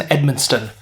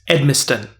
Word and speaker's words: Edmiston: the art of jason edmundson and edmund edmustin that's right sometimes you want to add an extra syllable in there i don't know why